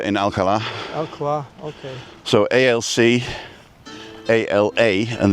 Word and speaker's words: Alcalá: So ALC, ALA, and the A's got a little tick on it to make sure that you pronounce the ALC, ALC, ALA, ALA, Alcala.